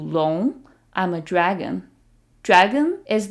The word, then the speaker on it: 龙: And the word for dragon is 龙, 龙.